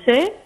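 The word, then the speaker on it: Desaix: et le général de Sey, ça s'écrit avec AIX à la fin, de Sexe, et qui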